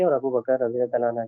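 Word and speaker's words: أبو بكر: अलैहि वसल्लम के और अबू बकर रज़ियल्लाहु अन्हु के। और परसूट में निकलने के बाद अब्दुल ये समद, अबू बक्र है नाम, अबू बकर नहीं है। BAKR, BAKAR नहीं, अबू बक्र है सही प्रोनाउंसिएशन।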